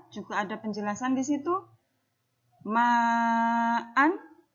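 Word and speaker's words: مَعًا: Ma'an ketika jatuh di akhir ayat, maka dia menjadi ma'a.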